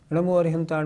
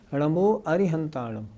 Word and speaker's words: णमो अरिहंताणं: इसका मतलब सबसे शुद्ध उच्चारण है णमो अरिहंताणम। अच्छा यदि हम अरहंताणं बोले तो इससे भी कोई दिक्कत नहीं। अर्थ इससे भी ठीक निकलता है। णमो अरहंताणं बोले तो इससे भी अर्थ ठीक निकलता है।